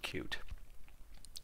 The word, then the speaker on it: Qt: working with cute and he also pronounced it cute all right okay so